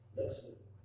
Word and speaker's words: LexMeet: Valderrama and his team as LexMeet, which rhymes with Let's Meet.